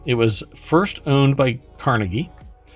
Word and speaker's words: Carnegie: was first owned by Carnegie or carnegi um I think is the proper pronunciation then it was purchased